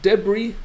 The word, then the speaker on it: debris: And but debris, the S is not pronounced.